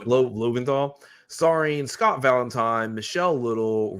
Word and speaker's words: Loventhal: How do you pronounce that? Loventhal. Loventhal.